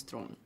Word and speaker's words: Theron: Charlize Theron's but it's the real pronunciation pronunciation of my last name is thrown which is really hard for people to say okay I will learn